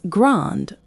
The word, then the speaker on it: grande: If describing a woman, add an E. So she is grande or petite. You must pronounce the final consonant sound for her.